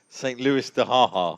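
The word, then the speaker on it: Saint-Louis-du-Ha! Ha!: So shall I pronounce this one the way you do it? This is San Luis du Haha. St. Louis de Haha.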